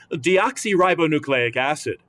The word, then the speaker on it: deoxyribonucleic acid: So let us take it one syllable at a time now, shall we? Repeat after me. D. Oxy. Ribo. New. Clay. Ick. Acid.